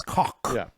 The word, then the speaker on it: Koch: Annoyed he is by he said it's Koch, like German.